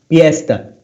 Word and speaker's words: fiesta: Okay, they pronounce fiesta. Fiesta. Festa. Fiesta. Spanish. Yes. With a P? From Spanish. With a P, yes. In Tagalog, there's no F. It's only P.